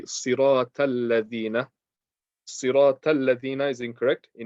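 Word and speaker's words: الذين: People say siratal lazina, z. So do you mispronouncing the dal and turning into a za? That's incorrect. So you want to say siratal ladina. Make sure you're only touching the top teeth with the letter dal.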